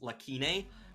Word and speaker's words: Lacunae: Lacunae? It actually is an English word, and it's pronounced Lacunae, which means unfilled gap.